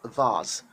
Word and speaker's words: vase: call it face so british people don't call it face british people call it vaz of vasa fla so one if you want to sound correct and be british say vaz of flower now the other